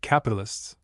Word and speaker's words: capitalists: The young lady pronounced the word capitalists, with the accent on the it, which puzzled Jimmie for a time.